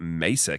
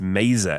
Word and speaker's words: Maser: I also realized as well, I think when we started the show, I was calling it Mesa Cannon. It is. But it's Maser as in laser.